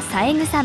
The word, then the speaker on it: 七草: ゆです私はさえ草まゆです七草と書いてさえと読みますよろしくね俺は